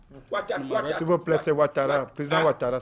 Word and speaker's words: Ouattara: S'il vous plaît, c'est Ouattara. Président Ouattara, s'il vous plaît. Chez nous, on ne prononce pas le final. Ouattara, comme on dit Ouattara. Si tu t'appelles Tara, on dit Tat.